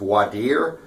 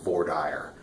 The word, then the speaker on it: voir dire: know you're in Texas everywhere else in America they call it wide year with the proper French pronunciation but obviously here in Texas we have our own twist on everything we got to call it for Dyer so if you go